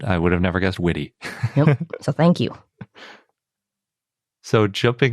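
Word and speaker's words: Witte: we've been pronouncing the witty museum incorrectly it's pronounced witty not wit so we will keep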